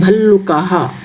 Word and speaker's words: भल्लुकाः: विसर्ग का उच्चारण हा की तरह से होता है, भल्लुकाः।